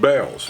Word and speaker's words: Bealls: My wife says that thing that looks like an A is not an A, it's just a bell, to let you know that it's pronounced bells.